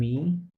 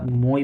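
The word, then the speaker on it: moi: মি হয়, ওটাকে ফরাসিতে আমরা মই বলে থাকি। ওরকম দেখতে একই, বাট উচ্চারণ ভিন্ন, রাইট? এটা মি আর এটা মো ফরাসিতে, রাইট?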